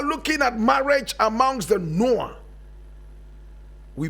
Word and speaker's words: Nuer: Today we are looking at marriage amongst the Nuer. We pronounce it Nu.